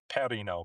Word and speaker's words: Perino: It does it does it sound like one of my favorite beers out there? Is it? Yeah. Peroni. I love Peronis. Uh yeah, I think the Italians would pronounce my last name. Perino, but uh.